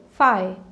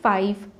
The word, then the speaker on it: five: i v e but some people they consider v to be silent here and they say it like this phi i want 5 pence